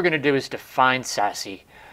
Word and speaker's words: SASE: secure access service edge abbreviated sase pronounced sassy now little did they